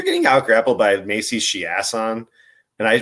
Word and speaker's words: Chiasson: You also have like, if you're getting out grappled by Macy Chiasson, and I pronounced it right, it is Chiasson because she's ass.